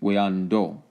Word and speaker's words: Wando: Many T's and anglicized tribal names were actually pronounced closer to the sound of a D. So when we're talking Wando or Oueanto, as we see here, we would think the T would pronounce as to. It's actually Oueando.